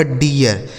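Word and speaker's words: dear: इस double E का उच्चारण बड़ी की मात्रा नहीं होगा बल्कि इय। आर से र इसे पढ़ा जाएगा डियर।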